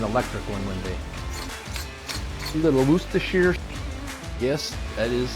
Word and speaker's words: Worcestershire: A little Worcestershire. Yes, that is how you actually pronounce it. Worcestershire.